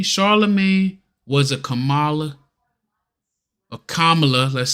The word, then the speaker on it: Kamala: though with Charlamagne charag was a Kamala a Kamala let's say it correctly give her respect for